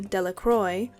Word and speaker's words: Delacroix: Bobby and Harry Jones, and Dickie Delacroix, the villagers pronounced this name Delacroix, eventually made a great